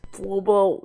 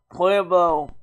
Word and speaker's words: Pueblo: Pueblo, actually it's pronounced Pueblo. I keep pronouncing my words wrong.